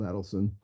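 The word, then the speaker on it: Adelson: Adon um but anyway I was given a shorthand hint on how to pronounce his name which is it's adelon not adelon because and you remember that with the uh with the reminder that he adds up his money so it's Adon yeah which is Chinese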